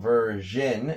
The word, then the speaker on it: version: Again, I would probably focus more on the end, because the beginning sound, the ver sound, is the same in both. That's what probably causes most confusion. So version, meaning, you know, another